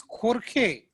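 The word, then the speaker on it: Jorge: The third one is J will be pronounced as K. So it is Khorkhe.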